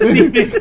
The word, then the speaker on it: Segel: Yeah, they were even the Jason Segel movie. I felt like just No, I feel like nobody talks. It's just kind of... What? Isn't it Jason Segel? Segel. Yeah. Segel? Jason Segel. It's Segel.